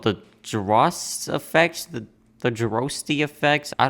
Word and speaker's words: Droste: Droste.